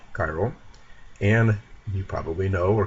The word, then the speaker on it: chiral: One thing you can just always keep in mind, a spiral is always chiral. I think they rhyme with each other just by coincidence, but it's a useful thing.